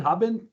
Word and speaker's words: Habben: Did I pronounce that right? Habben? Yes, that's right.